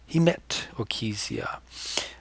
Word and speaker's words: hematochezia: here, that's called hematochezia, or and here's my pronunciation, guys, hematochezia.